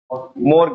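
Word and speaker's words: mortgage: समझ में आई आपको मोर्ज ए उसको में टी साइलेंट रहता है एमओ आरटी जी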